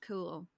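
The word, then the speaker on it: Cumhaill: i l l and somehow that's pronounced cool cool that's cool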